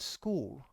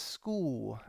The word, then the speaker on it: school: the word school but she doesn't really pronounce the sound at the end of the word this is quite a tricky one to do to pronounce the sound at the end of a word so she kind of says school and it sounds like it ends in a war in order to pronounce the lut sound if you want to